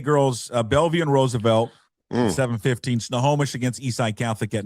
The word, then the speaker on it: Snohomish: I have like a tick right now that I can't pronounce it. I'll say it for you. Snohomish.